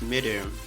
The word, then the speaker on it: madam: Please stop stressing yourself trying to pronounce madam as mesdames. The correct pronunciation is just madam.